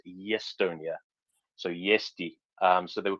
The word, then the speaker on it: Estonia: They couldn't speak Estonian very well, and their characteristic pronunciation of Estonia as Yestonia, so Yesti.